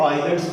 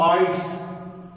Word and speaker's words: IELTS: बहुत से लोग इसे आइलेट्स पढ़ते हैं, बिल्कुल गलत है, क्योंकि यहाँ पर एल जो है वो साइलेंट है, यहाँ पे एल साइलेंट है। नॉट अ आइलेट्स, इट्स mean आइट्स, इसका मतलब है आइट्स नॉट आइलेट्स।